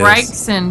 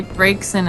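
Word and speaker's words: Braixen: Oh, Bryson. Bryson's a good one. Someone say Brixson. And I don't see how you can get that. Like who? Bryson. I say Bryson.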